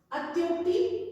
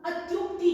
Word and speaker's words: अत्युक्ति: अत्युक्ति नहीं होता, अत्युक्ति होता है, अत्युक्ति।